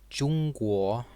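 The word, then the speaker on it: 中国: called pinyin and looks like this this is pronounced jungkook these characters literally mean middle or center and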